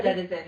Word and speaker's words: Disen: So, check out Disen. Is that how you pronounce it? Yeah, Disen. It's basically Dennison.